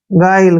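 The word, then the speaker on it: guile: उच्चारण हम नहीं करेंगे गाइल क्या पढ़ेंगे गाइल गुल्ली नहीं पढ़ने है गायल पढ़ना है इसको क्या पढ़ना है गाइल गाइल मींस क्या होता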